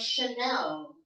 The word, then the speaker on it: Chanel: So there are instances wherein the spelling is CH, but the pronunciation is sh. For example, the brand Chanel.